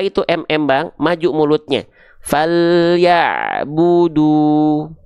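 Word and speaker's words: فَلْيَعْبُدُوا: Falyabudu. Falyabudu, nggak perlu ditarik-tarik ya. Falyabudu, nggak, langsung monyong aja dua-duanya. Falyabudu.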